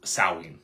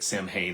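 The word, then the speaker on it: Samhain: Christianized version of an ancient Celtic festival called sawing, right? Sam Hayne, it looks like, but it's pronounced sawing. I'll probably pronounce it Sam Hayne because that's what I grew up hearing.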